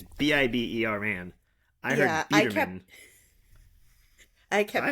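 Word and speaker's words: Biberman: I also want to put out that I'm saying it wrong. I kept hearing Biederman. It's Bieberman. It's Biber man.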